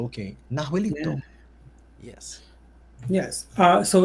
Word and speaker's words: Nahuelito: Okay, Nahuelito. Yeah. Yes. So it's a lake monster, kind of resembling the Loch Ness monster. Very similar, actually. Yeah. Nahuelito lives in Nahuelhuapi Lake in the Patagonia region of Argentina.